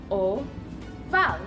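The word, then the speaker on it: ovale: Our next shape is an oval, which sounds like oh-vah-le.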